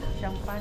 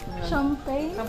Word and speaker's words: Champagnat: ang sabi ni Marcel champan champagnat champan yan pag pron Champ ang pronunciation niya is champan Ayan Before yung likod